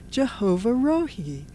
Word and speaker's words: Jehovah Rohi: Jehovah Rohi.